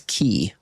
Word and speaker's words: Quay: I wouldn't have pronounced that Quay as key.